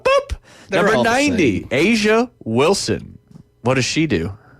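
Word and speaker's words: A'ja: Number all the 90, Asia Wilson. What does she do? Asia. I like the name. Yeah. It's not spelled like the continent, though.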